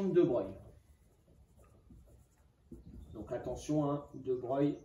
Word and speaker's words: de Broglie: moyens donc attention hein de bright ça s'écrit de broglie donc en fait on